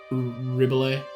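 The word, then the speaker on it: Ribbelet: t yes okay like it's like ribet like the French one but just swap the I out for the E and yours is caring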